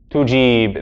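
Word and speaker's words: تُجيب: Is that vowel a long or a short vowel? Short, exactly. Tujib. We hear that the second syllable is long, the first one is short. Tujib. Tujib. So it's going to be a short U.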